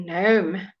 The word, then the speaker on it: gnome: so let's see if you can manage a silent letter L no gnome absolutely right okay so now here come on